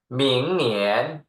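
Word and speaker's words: 明年: 2 หมิง เนอ เอียน เนียน เสียง 2 เหนน หมิง เหนียน นะ ครับ คล้าย ๆ หมิง เทียน เลย เนาะ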